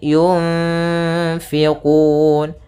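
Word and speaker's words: يُنفِقُونَ: Kemudian di sini ada bacaan ikhfa pada lafal nun mati bertemu dengan fa, yaitu ee cara membacanya adalah nunnya kita samarkan kepada huruf fa kemudian ditahan dengungannya atau gunahnya. Yun sepanjang dua harakat.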